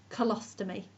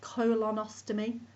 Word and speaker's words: colostomy: the large inter intin colostomy notice how the N has been dropped instead of colonostomy it's colostomy for ease of pronunciation an abnormal condition of